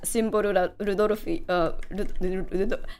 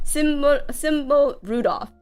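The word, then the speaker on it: Symboli Rudolf: I did 3 temples, and I have Oguri Kappu and Simboru Rudolfi. I'm like, I played during the Japanese server, so all my pronunciation of the horses are very Japanese. But I have symbol Rudolph.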